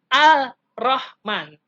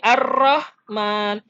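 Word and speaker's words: الرحمن: ada alif lam roll ya dibacanya Bukan al-rahman tapi lemnya lebur Hai lebur ke huruf berikut berikutnya jadi ar-rahman kemudian abdol Allah bukan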